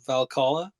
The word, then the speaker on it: Valhalla: Does that mean that Cool Cats could be early access into Valhalla? Am I pronouncing that right?